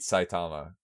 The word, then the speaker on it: Saitama: Yeah, Saitama? that's it. Sammy Sosa. Close enough. Pussy. Okay, We'll save that for later. Exhibition. If you can name one anime figure to beat Saitama, go for it, buddy.